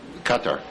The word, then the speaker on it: Qatar: Qatar. Qatar? Yes. I've never known exactly how to pronounce it.